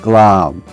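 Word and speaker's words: glaum: The Scottish word of the day today is glam. And that's spelled G L A U M. Pronounced glam.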